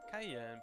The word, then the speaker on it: Cayenne: My apology, Miss Cayenne, pronounced like the pepper.